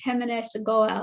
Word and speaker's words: Himanish Goel: to badass and today i have my friend feminist goal is that you say it right yes yep